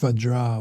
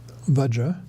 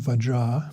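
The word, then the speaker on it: Vajrā: This would be pronounced Vajra with a long A at the end, because Vajra with a short A indicates a male. A long A at the end, Vajra, indicates a female.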